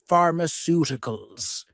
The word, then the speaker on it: pharmaceuticals: So in the speaking exam, we can say pharmaceuticals with 5 syllables. The two vowels EU make one sound together.